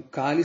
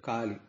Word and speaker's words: Kali: Então, Kali se fala com o A aberto, Kali.